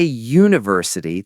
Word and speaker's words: university: Good test, but no, we say uh university because when you say university, the sound at the beginning is you, like the letter y.